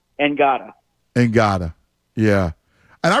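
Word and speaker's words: Ngata: it's spelled the same as helloti NADA it's pronounced angada and Gaga yeah and I remember uh liking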